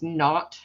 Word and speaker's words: naught: plus s not and that the zero is pronounced not it's n-a-u-g-h-t it's a weird old old way